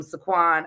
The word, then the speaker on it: Saquon: Y'all know I love some Saquon uh Barkley. Regardless of if I'm saying his name right, y'all know is actually exactly how you pronounce it.